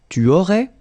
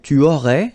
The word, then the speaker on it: tu aurais: Then same thing here, tu aurais, you don't pronounce the final S.